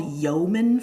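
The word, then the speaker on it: yeoman: These are often called yomomen farms. Ye o m an is how you spell that word.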